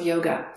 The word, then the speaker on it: yoga: to yourself the word yoga so when you go to in india you actually hear people talking and it's actually pronounced yog and yog has the